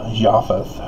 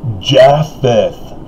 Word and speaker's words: Japheth: two separate sons of japheth but you know mormons don't care that's looking beyond the mark even your pronunciation travis that's wrong it's jaffeth and oh my god